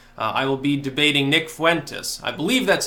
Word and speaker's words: Fuentes: Eastern on March 3rd so a couple days from now I will be debating Nick Fuentes I believe that's how you pronounce his last name correct me if I'm